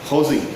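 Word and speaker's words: José: ஹோசி இட்ஸ் a Russian word. J is being pronounced as H over there.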